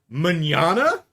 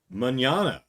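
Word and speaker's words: mañana: It does not rhyme with banana. Banana mñana or manana. It's not an English pronunciation, but yeah. Um, just because the uh words end in the same couple of letters doesn't mean they rhyme.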